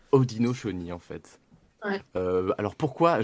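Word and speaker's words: Haudenosaunee: ça très loin tout à fait ça se prononce odino choni en fait ouais alors pourquoi je ne sais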